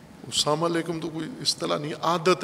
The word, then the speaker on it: سلام علیکم: البتہ اپنے لہجے میں، بعض پنجابی لہجے میں سلام کرتے ہیں یا غیر پنجابی میں ساما لیکم، ساما لیکم، وہ نہ ساما کا کوئی معنی ہے نہ لیکم کا کوئی معنی ہے، ساما لیکم، سلام علیکم تو کوئی اصطلاح نہیں،